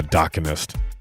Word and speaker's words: Daganist: And I pronounced that wrong probably throughout the interview. It's the Daganist if you're listening and want to find, but it's pronounced the Daganist.